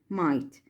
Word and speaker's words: might: At first, we talk about might. GH silent letters.